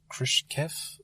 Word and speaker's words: Khrushchev: Yeah, so the film goes with the pronunciation Khrushchev, but if you want to be really pedantic about it, it was something more like Khrushchev, but they were sensible enough not to inflict that on the actors.